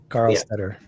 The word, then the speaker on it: Karlstetter: Oh, that's like some kind of German name. Karlstetter.